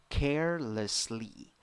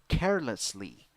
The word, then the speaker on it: carelessly: In the first syllable, you have E. Second syllable, schwa, uh. Third syllable, E. Pronunciation, carelessly, carelessly, carelessly.